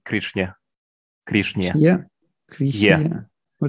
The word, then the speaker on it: Krishna: When in this case we say Krishna.